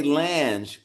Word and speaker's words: Lange: That's a German derivative, and the reason we say Lange, Susanna, is because my father grew up in Louisiana, and that was the French influence oh.